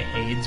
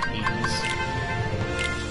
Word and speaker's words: Hades: I think it's funny how I always say Hades when it's pronounced Hades.